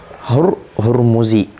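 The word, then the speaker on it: Ramahurmuzi: foundernya ilmu musalah had Mimi cara bacanya dengan fathah mim kita coba langsung praktikkan ya fathah mim mimnya dikasih fathah Ya wadammi wadammi alhai han-nya dikasih damah Duh kan dah haah hanya dikasih damah hurmuzi wasukunaniah sukun ra yang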